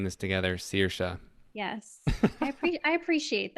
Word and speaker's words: Saoirse: are introduce yourself yes so my name is searsha claire sirsha yes sirsha see we're all are saying this together searsha yes i apprec i appreciate that i appreciate